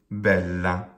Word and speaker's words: bella: Let's do bella, bella. Well, the first syllable, bel, we have 2 L's, and we usually will, in fact, we'll certainly always divide those L's, not have them both in the same syllable if we can help it. The la is short. The bel is long, not because the vowel is long, but because the syllable ends with a consonant.